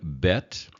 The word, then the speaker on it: bet: When the B vacates the letter, then there's a V sound, a V sound. So again, bet and vet, bet and vet.